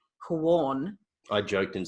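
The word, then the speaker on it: Quorn: in Berlin but I'm talking about qu ORN pronounced corn I joked and said it was Quan it's not cool the problem with corn let's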